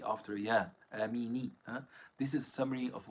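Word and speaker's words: آمين: If it is connected, the noon gets a fatha because of the consecutiveness of two silent letters, just like it is given a fatha in the words ayn and kaf, ayna kafa, and it is not given a kasra since kasra is heavy after ya, amini.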